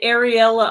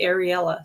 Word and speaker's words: Ariella: to ask her because I had been pronouncing Ariel like the Little Mermaid, I guess it is, and some other people were pronouncing it Ariella. So when she was up, I got to finally ask her because I wanted to be saying her name right, and she does say it Ariella.